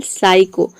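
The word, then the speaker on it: psycho: For example साइको। साइको में आप a word के शुरू में ही ज्यादातर आता है। साइको में आप देख रहे हैं कि पी एस एक साथ आ रहा है तो यहाँ पे हम पी को प्रोनाउंस नहीं करते हैं, पी लेटर साइलेंट रहता है।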